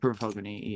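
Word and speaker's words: Purva Phalguni: Purva Falguni, yeah.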